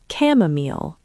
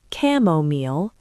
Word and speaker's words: chamomile: Chamomile, a calming tea, pronounced camomile or chamomile. Both are correct.